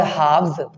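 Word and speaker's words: halves: She took the card हाफ्स, L silent है, हाफ्स from her purse, उसने अपने purse से फटे हुए टुकड़े निकाले कार्ड के, एंड हेल्ड, और रख दिया।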